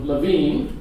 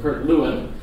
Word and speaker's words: Lewin: Scholar named uh Kirk it's actually pronounced Levine and we'll call them Kurt Lewin uh but they have